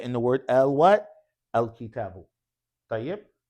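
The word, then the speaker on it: الكتاب: When it's beginning the sentence, you say al kitabu. The hamzatul wasl is pronounced. But when it's in the middle of speech, it's no longer pronounced.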